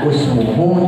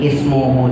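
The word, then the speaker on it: اسمه: Nah, yang kita pelajarin yang di sininya itu harusnya kita baca usmuhu ternyata enggak ya. Enggak semua yang harakatnya domah terus diharakatin domah. Kalau yang tadi ukutulu karena kalimah fi'il, kata kerja ya. Karena usmuhu ini ismuhu di sini adalah kata isim, kata benda maka yang diharakatin adalah kasrah.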